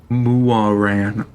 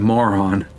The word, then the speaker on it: Muaran: Muaran. Okay, that is a better way of pronouncing that other than moron.